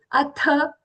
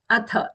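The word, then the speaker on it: अथ: And then comes the Atha. Atha. The Tha is Mahaprana, not Atha. Atha.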